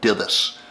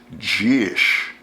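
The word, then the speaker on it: Dithis: It's spelled D I T H I S. Looks like Dus. It's actually pronounced Gish.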